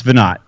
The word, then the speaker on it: Veinotte: It's Veinotte.